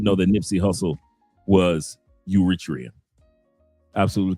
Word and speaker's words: Eritrea: But I just a lot of people a lot of people didn't know that Nipy Hustle was Uritria. Absolutely correct. He said he's pronounced or Eratria.